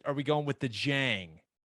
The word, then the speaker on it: Dieng: we going with the jang i think it's jang and i agree the reason is whenever we did the draft special the other day that's how he said it and because i'm used